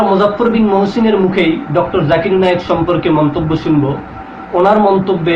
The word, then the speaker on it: জাকির নায়েক: এবার আমরা মুজাফফর বিন মহসিনের থেকে শুনে নিব তার দেওয়া জাকির নায়েকের নতুন একটা উপাধি। জাকির নায়েক জুকার নায়েক।